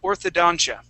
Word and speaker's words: orthodontia: right good so yes this is orthodontia okay that's how we would pronounce that excellent job with the